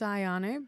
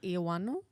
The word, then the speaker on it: Ioannou: do you mean like well in Greek so you can say it like ianu oh whereas aies would just say aanu Ayan cuz it's a lot